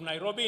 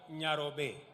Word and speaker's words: Nairobi: let us recall that the city is an anglicized pronunciation of encare Nairobi which is a kimasai means which in kimasai means the river of Cool Waters for the Maasai a